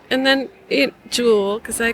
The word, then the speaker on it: JUL: And the first thing I want to ask you, is JUL Design the correct pronunciation? Yeah, JUL.